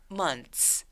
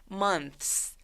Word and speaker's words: months: 그래서 months 마치 TS처럼 소리 난다고 보시면 돼요. 근데 이 단어는 천천히 발음하면 months 이런 식으로 TH 소리를 내면서 S로 가도 괜찮은데 문장을 말할 때 우리가 그렇게 천천히 말하지 않잖아요.